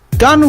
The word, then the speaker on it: Gon: Why are you saying Gone like Gone Girl? Because I'm mentally retarded. Gone! Gon! I know it's Gon, it's just how I pronounce it.